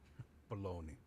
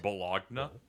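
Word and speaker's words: bologna: eugene cho not tokyo baloney i was relaxing at home except uh it's pronounced bulogna you wanted to give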